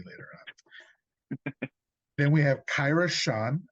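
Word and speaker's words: Kyra Schon: Then we have Kyra Sean, I believe that's how her name is pronounced.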